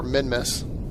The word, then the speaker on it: Minmus: Or Minmus. Been pronouncing it wrong the whole time.